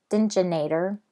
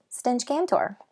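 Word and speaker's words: Stench Kantor: tour which I practiced I kept calling its engine ater mmm-hmm that's wrong it's dingy and tore I practice stench Cantore I kept practicing stench Gant or so I would say it correctly so here I go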